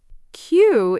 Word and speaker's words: queue: Queue is actually a great word to remember. It's spelled with four extra silent letters, q u e u e, but it's pronounced simply, queue.